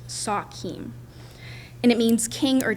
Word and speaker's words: sachem: It's an anglicized of sachem, we actually pronounced Sakim, and it means king or chief.